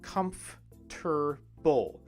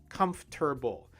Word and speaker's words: comfortable: say it in english in english we say comf tur bowl how many sounds is that three sounds right three sounds comf tur bull comfortable to be fair this